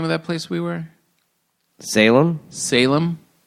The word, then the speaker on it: Salem: we were Salem Salem I called it sallim just somebody and they were like what I was like yeah I was up in Salem Mass and they're like I've never heard it called that before yeah Salem I just drag my A's cuz it's say like